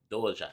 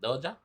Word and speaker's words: Doja: here with central c dojo is it called dojo wait wait oh you pronounce it doja all right um directed